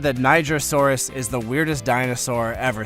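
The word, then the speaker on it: Nigersaurus: Actually, it's quite nice to see something like a Nigrosaurus getting some attention. I'm simply following how Niger is pronounced in French. The dinosaur with 500 plus teeth. Some people have said that Nigrosaurus is the weirdest dinosaur ever seen.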